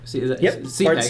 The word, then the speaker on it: Cepek: CPEC. That's how you say his last name.